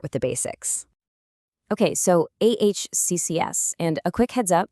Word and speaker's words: AHCCCS: Okay, so AHCCS, and a quick heads up, you pronounce that access like you're gaining access to healthare.